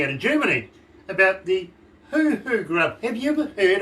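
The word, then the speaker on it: huhu: of germany about the hoo-hoo grub have you ever heard of the hoo-hoo i don't think i am okay well this is spelled h-u-h-u not the hoo-hoos that most americans like uh but you're familiar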